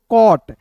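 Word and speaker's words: caught: इसे पढ़ पढ़ेंगे दोस्तों कॉट सी ए यू जी एस टी को पढ़ेंगे दोस्तों कॉट जी एच टी का उच्चारण ट के रूप में होता है सी का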